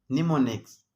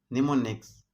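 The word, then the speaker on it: mnemonics: کله چې د ام توري د ان څخه مخکې راشي نه تلفظ کیږي، یعنې سایلنټ وي، خاموشه. نیمونیکس، نیمونیکس. ام پکې سایلنټ دی.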